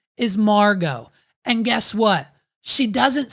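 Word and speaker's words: Margeaux: ID idty McKenna's actual identity her name is Margo and guess what she doesn't spell it regular dude and she needs to change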